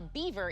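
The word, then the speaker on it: Biewer: Though its name is pronounced like that critter that builds dams, a beaver is actually a breed of what?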